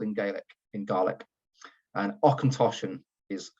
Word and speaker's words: Auchentoshan: of the field in Gaelic in garlic and occontoshan is how you would pronounce it in terms of a little bit